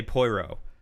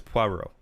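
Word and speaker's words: Poirot: it's at least closer I keep wanting to say poiro but it's puero it's it's that French accent I need to talk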